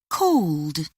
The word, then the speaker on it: called: 1, Asked, 2, mended, 3, called.